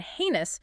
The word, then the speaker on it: heinous: clear e sound and heinous morally very bad pronounced a y notice the core